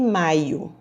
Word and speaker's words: maio: nessas correções letra f maiô e maio olha aí maiô estou tratando de uma peça de roupa de banho maio eu estou tratando de um mês do ano então um assento e a pronúncia muda toda todo o contexto então vamos ler as